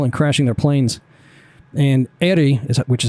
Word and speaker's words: Éire: And Éire, which is how you pronounce that, is Gaelic for Ireland.